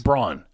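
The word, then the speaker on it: Braun: a u n yes Brun is that how it pronounce oh Bron okay um and I used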